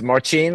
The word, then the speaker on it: Marcin: What's up, Marcin? Is it Marcin? Is that the right way to say it? It's Marcin, but I'm used to whatever pronunciation you have.